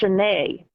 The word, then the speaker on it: Sioned: oh yeah, it's like Sioned is actually pronounced Sinead, Sinead Yeah. something. I can't pronounce it right. Sinead. That sounds better. Sinead, like Sinead Yes, O'Connor.